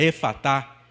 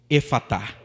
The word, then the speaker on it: Efatá: E simplesmente com o poder daquela palavra de Jesus, a pronúncia Efatá, que significa abre-te, simplesmente aquele homem é curado na hora.